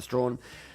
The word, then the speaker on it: Strachan: nothing better right and Andy strong Strachan looks like but I'm pretty sure you'd pronounce a strong there you go there